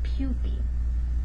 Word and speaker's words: pupae: referring to one but if you're talking about two or more so plural we would pronounce that pupi but pupa is the